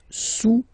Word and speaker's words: sous: Le cube est sous le cylindre, okay. Le cube est sous le cylindre. Don't pronounce the final S, and then this OU combination of vowels is pronounced OU, okay?